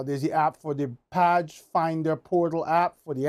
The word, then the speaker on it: PAJ: but it's the P I guess they pronounce padge find and protect and